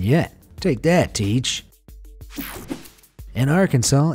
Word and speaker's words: Arkansas: state name, and that's Arkansas. Not Arkansas, sir. Arkansas. Those would both be considered illegal. According to the rule, the correct pronunciation of Arkansas with the final S being silent was made official by